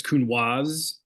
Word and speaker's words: Counoise: let you know it's Counoise. Counoise. How to pronounce the S, yes. Everybody says Counoise. But in French, because there's the E at the end of the S, you pronounce it like a Z.